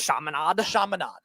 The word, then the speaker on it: Chaminade: How do you pronounce it? Chaminade.